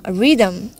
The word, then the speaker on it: rhythm: R-H-A khetre rhythm. Rhythm. And rhyme. এখানে silent letter রয়েছে একটা আর র উচ্চারণ হচ্ছে আর